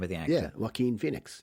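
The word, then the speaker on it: Joaquin: me again so what how how are you pronouncing the name of the actor waim Phoenix W Phoenix okay few thank God for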